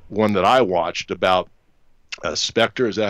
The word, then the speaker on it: Spectre: did your latest one that I watched about Spectre is that how you say it with the